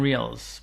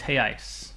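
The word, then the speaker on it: reais: in Brazilian he I it's spelled re e a i hey I or if it's one unit it's heyi spelled re e a l it looks like Real Americans say Brazilian res but it's hey ice so the origination volume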